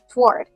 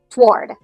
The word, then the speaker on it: toward: pronunciation is the word toward. Now, in American English, most people pronounce this as one syllable. Toward. It's almost like that first o doesn't exist. Toward.